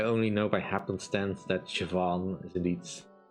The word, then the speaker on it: Siobhan: Like, I only know by happenstance that Siobhan is indeed pronounced that way.